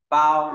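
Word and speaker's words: 勹: Phẩy này, sau đó ngang gập móc đọc là bao, đọc ngang này, không phải là bao mà là bao, bao, là bộ bao, nó về bao bọc.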